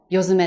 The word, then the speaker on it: 世詰: て読むし、世界の背に詰めるって書いても夜爪って読むんですね。